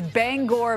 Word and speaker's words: Bangor: all the time is Bangor Maine it rhymes with store Bangor and mainers get